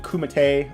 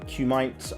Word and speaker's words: kumite: with the rest karate kumatay or kumite i i don't know how to pronounce it i kimate kumite sounds right but um don't don't